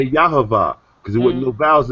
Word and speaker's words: Yahweh: Yahavah, because there wasn't no vowels in between. Or Yahweh. Or Right, it's Yahweh.